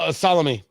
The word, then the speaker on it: Salami: uh says uh uh General salomi um which is spelled salami it is uh Iran